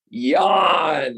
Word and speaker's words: Jan: with my co-host yawn it's pronounced yawn like you're yawning yawning but it's spelled j-a-n yawn say hello to everybody hey everyone over here happy to be here uh it's yeah it's actually pronounced yarn because it's dutch so different to the american i guess so happy